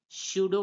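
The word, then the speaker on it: pseudo: एस आ रहा है तो यहां पर पी साइलेंट हो जाएगा तो इसे पढ़ेंगे पी एस यू डीओ को हम पढ़ेंगे सूडो पढ़ेंगे क्या पढ़ेंगे सूडो पढ अब बात करेंगे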